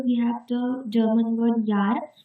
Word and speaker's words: Jahr: For example, in German, for year, we have the German word Jahr, in which J is pronounced as Ya.